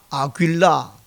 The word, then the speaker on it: 아굴라: 그 사람의 이름이 아굴라, 헬라식 발음은 아굴라.